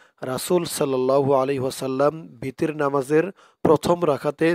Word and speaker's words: الأعلى: সাব্বিহ ইসমা রব্বিকাল আ'লা। আ হামজা দিয়ে আইন ধরবে, উচ্চারণটা শক্ত করতে হবে। আ আ'লা। এখানে এক আলিফ টান দিতে হবে।